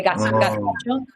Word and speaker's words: gazpacho: So in Castilian Spanish, we have an accent where the Z's and the C's are pronounced like THs. So we say gazpacho.